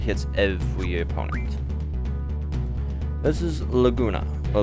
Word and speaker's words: Laguna: This is Laguna, or Laguna, as I've heard it pronounced.